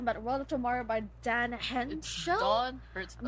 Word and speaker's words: Don Hertzfeldt: Don Hertzfeldt, yes.